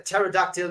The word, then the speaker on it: pterodactyl: can you laughs and why can't you hear pterodactyl use the bathroom because the p is silent oh bad yogurt I